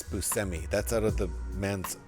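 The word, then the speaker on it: Buscemi: And by the way, folks, that's how you pronounce it. I used to say Steve Bushi all the time, but it's Busmi.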